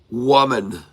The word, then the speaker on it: woman: two words is that the first syllable of each word is spelled the same but pronounced differently. And the second syllable of each word is spelled differently but pronounced the same.